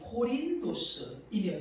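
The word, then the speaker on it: Κόρινθος: 본문과 연결을 해보도록 하겠습니다 고린도라고 하는 단어는 헬라어신 발음으로는 홀인 도시입니다 호린 도스이며 뜻은이 고린도는 아젠이라고 하는 곳에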